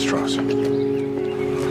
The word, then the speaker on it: Strauss: It's pronounced Strauss. Oppenheimer, whatever way you say it, they know I'm Jewish. I'm president of Temple Emmanuel in Manhattan. Strauss is just the southern pronunciation.